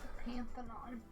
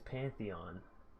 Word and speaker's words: Pantheon: It's Pantheon. Alright. Pantheon. Pantheon. Not Pantheon. Don't go. Not like put your panties on. Like Pantheon. Mm. That's how it's pronounced.